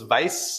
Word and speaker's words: Weiß: So, of course, Weiß, as it's pronounced in German, it means white. The word for wisdom in German is Weisheit. So Weiß, the color, and Weisheit, they sound alike too.